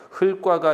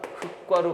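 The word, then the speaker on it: 흙과: 흘과가 아니라 흑과 겹받침 조심합시다. 흘과가 아니라 흑과로 발음해야 돼요.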